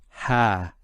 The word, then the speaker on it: ها: just to do with the script and it's pronounced as ha now this ha is actually a particle it's